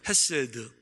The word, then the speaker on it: 헤세드: 헤세드. 자, 이 단어에서 시는 묵음입니다. 그래서 그냥 헤세드라고 불리우는데, 이 헤세드라는 단어는 한국말로 번역을 못했어요.